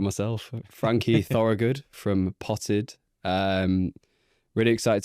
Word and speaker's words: Thorogood: Um I'm joined today by thanki Frankie. I've just you've got me pronouncing it wrong myself. Frankie Thorugood from Potted.